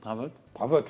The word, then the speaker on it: Dravotte: Alors ce fameux Daniel Dravotte, le T se prononce, hein.